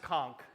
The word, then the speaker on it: Conch: Like, I love being here in the conchk republic and it is pronounced conchk.